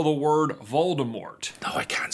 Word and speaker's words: Voldemort: can't spell the word Voldemort. No, I can't spell it. Like, seriously, dude? It's spelled exactly the way it sounds, unless you're one of those people who's like, Voldemort.